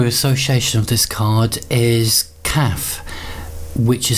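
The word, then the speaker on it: Kaph: The Hebrew association of this card is Kaf, which is spelled K-A-P-H, and Kaf essentially means the palm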